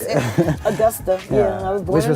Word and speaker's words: Augusta: August I Augusta that's the proper way to pronounce it Augusta yeah I was born in Augusta Georgia James Brown Hometown but I was I